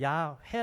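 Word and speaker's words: 야훼: 이렇게 이 블엘 안쓰고 영어로 yahweh 로 표현을 펴기를 했어요 야외에 한번 함 번쩍 들어 보셨을 꺼예요 어떨때는 야해 라고도 에 모음 때문에 그렇게 발음도 합니다 또 여호와 란 말은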